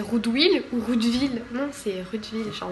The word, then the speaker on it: Rudwill: Non c'est Roudeville, genre le W ça se prononce en V.